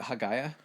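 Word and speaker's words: Hagia: is it was it hagaya uh they said the pronunciation in Greek would be Aya for that word oh a okay ha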